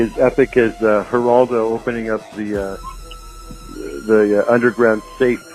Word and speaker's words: Geraldo: And one of the names is pronounced with an H as in Geraldo, and the other one is pronounced with a G as in Geraldo.